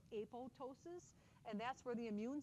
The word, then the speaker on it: apoptosis: It looks like it's apoptosis, but the second P is silent. It's called apoptosis, and that's where the